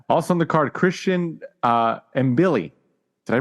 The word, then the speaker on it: Mbili: Also on the card, Christian Mbili. Did I pronounce that right? Or is it Mabili? Yeah, I say it the same. That's Mabili.